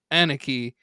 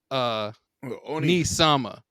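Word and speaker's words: Onii-sama: And he's like, "It's not Aniki. It's Oni. Nisama. Don't be calling me that. You say it right or get it.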